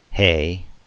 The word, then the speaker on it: He: The He, which rhymes with say, we transliterate as the H.